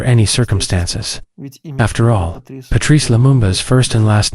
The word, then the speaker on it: Lumumba: Minister of the Democratic Republic of Congo, Patrice Lumumba, as Lulimba, through L, instead of M.